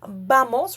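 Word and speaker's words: vamos: So you will also come across some native Spanish speakers saying bamos with a slight and softer B sound.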